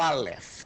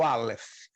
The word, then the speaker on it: Aleph: Ele é silencioso. Só quando tem as vogais, você pronuncia só as vogais. É uma consoante híbrida, silenciosa. Pode ter qualquer som, pode ter o som de A, de E, de I, de O e de U.